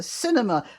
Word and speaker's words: Sinema: hasn't heard of that her name is spelt with an s at the front not a c uh you know around here we call movies the cinema anyway senator cinema she's